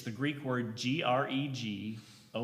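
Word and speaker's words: γρηγορέω: Well, be vigilant in the Greek it's the Greek word Gregorio. It looks like Greg Oreo. It's basically how it's spelled.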